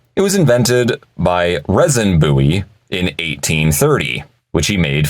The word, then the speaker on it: Bowie: is it Bowie or buoy how do you pronounce that knife's name the correct pronunciation is in fact buoy that's right it is not pronounced Bowie the way it may look to be spelled it's buoy not Bowie